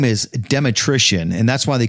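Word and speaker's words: Dmytrysyn: Just like Danny said, nobody can really say it, spell it, or anything else, but it's spelled like this. D M Y T R Y S Y N. Dematrician, just like electrician.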